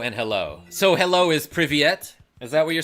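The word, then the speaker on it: Привет: It's pronounced like Privyet.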